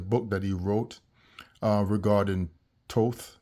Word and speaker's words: Thoth: that he wrote regarding Thoth, which is pronounced Tat in the Hebrew Shemitic language, about what he wrote